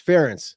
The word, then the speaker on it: Ferentz: I've heard a lot of youngsters having a hard time pronouncing his name, guys. It's Ferentz.